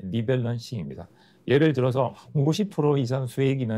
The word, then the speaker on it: 리밸런싱: 3개월이나 6개월에 한 번 정도 포트폴리오를 점검하고 비중이 커진 자산은 줄이고 낮은 자산은 보충하는 방식인데 두 번째 성기만 리벌런싱입니다. 리벌런싱 밸런싱네 리밸런싱입니다.